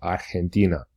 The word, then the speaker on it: Argentina: So in Spanish, they don't say G, they say G. So for example, Argentina is Argentina.